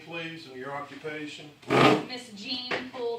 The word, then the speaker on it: Gene: Miss Jean Poole, that's spelled G-E-N-E, but I'm named after my great aunt Jean, but hers was spelled J-E-A-N, but it's a little bit different.